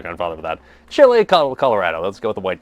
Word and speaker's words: chile colorado: Chile Colorado.